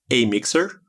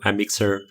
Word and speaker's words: Amixr: on call it uh used to be called a mixer or a mixer mixer so whoever we asked everybody had different